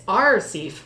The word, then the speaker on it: RCEAF: call our safe uh pronounced like a pirate don't forget it's rcif so rc eaf is um